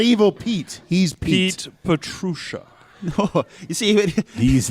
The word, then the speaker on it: Petrusha: Petrusha. Go ahead, say it. Petrusha. Petrusha. He's not. He's John, not. He's you're not not even trying. He's not evil Pete. He's Pete. Pete Petrusha.